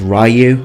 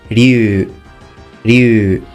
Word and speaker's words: Ryu: series now this name I've sometimes heard it mispronounced as Ryu other times mispronounced as Ryu but the actual name is Liu you now this country here would also be pronounced